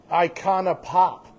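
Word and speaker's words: Icona Pop: She could talk to us about Iconana Pop. Yeah. Did I even say that right or something? I think you said it exactly how it's spelled.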